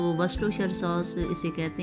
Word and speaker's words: Worcestershire: और ये इसके जो वर्डिंग कुछ अलग है और प्रोनाउंसिएशन थोड़ा सा डिफरेंट और थोड़ा सा मुश्किल है। तो वर्स्टरशायर सॉस इसे कहते हैं, वर्स्टरशायर सॉस, और ये 1 टेबल स्पून डालनी है।